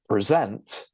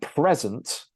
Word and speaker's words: present: And you can hear that the first E is pronounced with an a schwa sound, and the stress side makes an sound like in the word met. So present is the verb and present is the noun, okay?